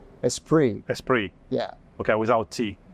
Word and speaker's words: Esprit: was that in America nobody knew how to pronounce it so for years it was sprit a sprit a spirit you know all kinds of things like this